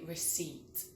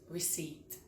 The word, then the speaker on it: receipt: silent R. I asked for a receipt not receipt but receipt. silent T.